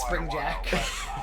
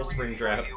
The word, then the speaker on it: Springtrap: I also, you know, it's not pronounced springjack. Good old Springtrap.